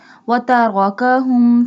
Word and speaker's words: وتركهم: Here ra has a fatha sign, so we bold it. وتركهم في ظلمات لا يبصرون.